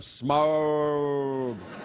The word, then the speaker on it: Smaug: You have to say it like that. The Desolation of Smaug.